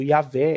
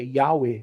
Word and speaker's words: Yahweh: Então, ao pé da letra em hebraico ali está escrito Yahvé, Yahweh, né? Depende de como você quer pronunciar.